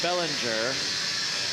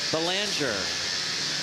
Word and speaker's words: Belanger: mobile wow RedHawks Builder Josh Bellinger Belanger I keep saying it wrong today Chris Belanger uh you